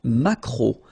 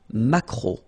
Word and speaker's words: maquereau: Le maquereau. So technically this K, just pronounce it K. Mac. Maquereau. Macro. Alright? And then E, A, U. Remember when you combine these three vowels, you get the sound O.